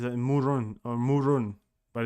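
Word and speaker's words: Mörön: Moron. Look at that. Moron. It's spelled like that. It's a Murun or Murun, but it's spelled like that. Like moron.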